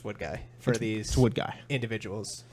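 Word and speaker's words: Woodgie: guy and some people don't believe it's pronounced wood guy because it's spelled wo OD gie okay but I'd like to just settle the issue on stream that it is pronounced what guy for these wood guy individuals okay 31 people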